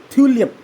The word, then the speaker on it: थ्यूलियम: आ गया अरबियम 69 थ्यूलियम TM ठीक है ना इसको टेमेरियम मत पढ़ना सिंबल ऐसा है, लेकिन इसको थ्यूलियम पढ़ते हैं।